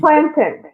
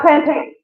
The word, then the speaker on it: plantain: and you say Fountain it's plantin right not plantain no plant no and